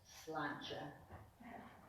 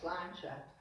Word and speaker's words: sláinte: It's spelled S-L-A-I-N-T-E, and it's pronounced sláinte. It's Gaelic, of course. And a helpful hint is think it's a lawn chair. It's lawn chair, sláinte.